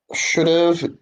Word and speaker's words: should've: job one A to E all right Peter should've could've would've must've weird wouldn't so we don't really pronounce the Hat because it's a it's a